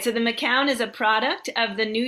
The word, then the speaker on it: Macoun: Is that how you pronounced it? Yeah, well, we say McCown. I've heard Macoun also, Macoun.